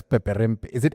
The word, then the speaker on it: Peperempe: What does Peperempe?